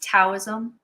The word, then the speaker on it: Taoism: Taoism, sometimes pronounced Taoism, D or T, it depends on how you're translating from Chinese, but it's becoming increasingly popular because of Star Wars.